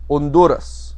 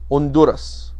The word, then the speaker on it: Honduras: the country called honduras honduras notice the h is silent honduras the next the next